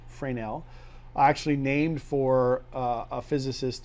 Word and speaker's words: Fresnel: right for now zone spelled Fresnel zone but pronounced Fran L Fran L actually named for a physicist that kind of